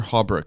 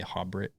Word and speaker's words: Haubrich: Today I have Peter Haubrich on the podcast. Is that pronounced correctly? Yeah, actually, that's the first time somebody actually got it right. And people usually say Haubrich.